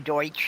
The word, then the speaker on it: Deutsch: to point out something the Pennsylvania Dutch aren't Dutch their Germans was yeah it was actually the Pennsylvania Deutsch and just our mispronunciation of it um construation yeah